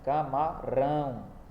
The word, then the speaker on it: camarão: Tem acento? Tem. Em que sílaba? No ão. Melhor, né? Rão, né? Camarão. Então o acento é no rão.